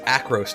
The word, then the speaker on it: Acros: saw this stuff I've been saying it wrong this whole time this is acros Tower not Arcos have I been [